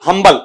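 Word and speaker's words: humble: जाए आपका कि हम्बल, इसका उच्चारण अंबल मत कर देना, हम्बल। अगर आप आर्टिकल भी लगाए कि हम्बल पर्सन, तो एन मत करना, ए ही रहेगा, इसमें एच बोला जाता है, एच वहां पर साइलेंट नहीं रहता है आपका।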